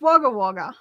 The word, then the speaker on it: Wagga Wagga: Natalie says, I live in Wagga Wagga, pronounced Wagga Wagga.